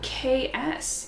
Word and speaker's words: Kaesse: coat of blaze oh ks interesting sharon i'm so glad you're here sharon says that this brand is pronounced like k-s k-s that makes sense k-a-e-s-s